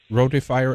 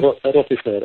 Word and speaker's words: rotifer: of microorganisms, you mentioned, I think it's called rotifier eggs. Is that how you pronounce it? Rotifier, R-O-T-I-F-E-R.